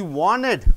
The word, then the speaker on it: wanted: She wanted. After the NT comes, T is silent.